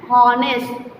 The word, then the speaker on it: honest: H is the silent word, so we have to pronounce here an honorable lady. And honest, that means H is a silent word, and honest servant, and our, etc.